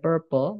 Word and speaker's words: purple: warna Bendanya contohnya ada Purple ini bacanya pe ya bukan Purple karena banyak sekali kita yang e bilang ini Purple sama kayak penyu teman-teman